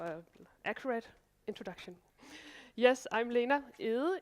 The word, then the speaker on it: Lena Egede: Yes, I'm Lena Egede, if you want it pronounced in the Danish way.